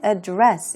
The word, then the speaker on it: address: 다루다 이런 의미가 있습니다 우리 adress 해서 강세를 바꿔서 명사로 사용하게 되면 주소라는 뜻인데요 여기서는 address 이렇게 보셔야겠습니다 연설하다 뜻도 있죠 그리고 Greek financial crisis고